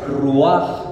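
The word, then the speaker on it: רוח: En hebreo viento se dice ruaj.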